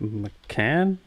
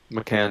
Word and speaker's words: Macan: How do you spell it? McCann? Oh, shoops. Macan, yeah, McCann. Macan.